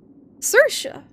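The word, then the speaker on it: Saoirse: this okay it's spelled like that but it's pronounced circia was it like a like an Irish pronunciation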